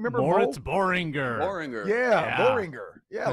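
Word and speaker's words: Boehringer: Boringer.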